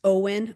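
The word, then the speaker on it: Owyn: I look for the I think it's pronounced Owen. O W Y N.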